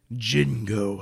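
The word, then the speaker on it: Django: hit of the summer Jingo Unchained the D is silent is this Jin I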